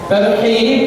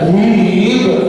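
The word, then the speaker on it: ترحيب: hannya salah salah artinya tarhib itu dari rahabaiban menyambut dengan lapang dada mengucapkan selamat datang ya tapi kalau antum bacanya thib hannya besar ya bergetaran dadanya itu ahah itu artinya roh teror Jadi kalau t menyambut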